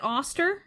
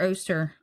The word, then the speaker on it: Oster: Is it Austster or Oster? How do we say that? I've I've heard it pronounced both. I say Auster. Um but that might be incorrect. Um I think either are kind of accepted.